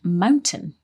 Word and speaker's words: mountain: pronunciation of the word mountain in mountain lions yes she said Mountain line that's right she kind of didn't pronounce the T this is quite common